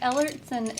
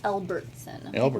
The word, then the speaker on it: Ellson: claimed to be perfect but ellson is sound it's sounds just like it's spelled but I get it butchered I elbertson there is no bee in ellson ellson yeah just